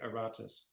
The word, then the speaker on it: Aratus: 3rd century BC named Eritus. Yes. And that's spelled with an a. It sounds like it's spelled with an e, but it's or some some people might say aratus.